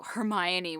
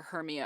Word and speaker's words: Hermione: and obnoxious nine-year-old I learned that you know Hermione was the correct way to pronounce it and everybody else was calling her Hermia and I was like no she's mine yeah